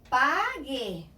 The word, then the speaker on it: pague: But if I combine it with a U, I get the G sound again for E and I. So, pague, pay. Guía, guide. H is totally dumb in Spanish.